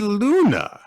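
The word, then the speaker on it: Glüna: something like that it's it says the g is silent in the captions of this chapter I'm not going to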